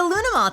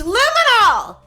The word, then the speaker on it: luminol: Loony Mall? Loony Mall? What's Loony Mall? It's luminol!